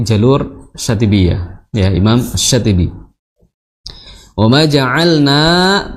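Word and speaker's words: وما جعلنا: Ya Hamzah harus dibaca dengan jelas, dengan syiddah. Kenapa? Karena dia mempertemukan kedua makhraj dengan sedikit tegas. Seperti itu. Jadi jangan sampai wa ma ja'alnas ya.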